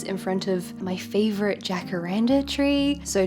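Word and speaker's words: jacaranda: front of my favorite Jack Aranda tree so Jack Randa trees I think they're pronounced hakara trees and other places I learned that from En Kento these beautiful purple trees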